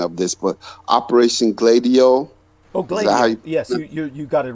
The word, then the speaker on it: Gladio: and uh douglas correct me on the the pronunciation of this but operation gladio okay yes you got it right thank you